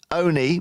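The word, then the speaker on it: Olney: an hourly service between Oni which is spelled o n sorry o-l-n-e-y and Bedford which is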